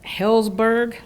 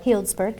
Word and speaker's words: Healdsburg: you can wind down the Hillsburg that is say it right Healdsburg Hillsborough and it's a